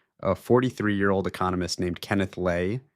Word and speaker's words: Lay: Within 12 months, Houston Natural Gas's chairman, a 43-year-old economist named Kenneth Lei, LII rhymes with pay, had maneuvered himself into running the combined company.